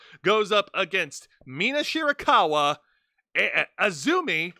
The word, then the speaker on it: AZM: up against Mina Shirakawa, Azumi, that's how it's pronounced, not AZM, who, by the way, is the New Japan Pro Wrestling Strong Women's Champion, dethroned Mercedes Moné.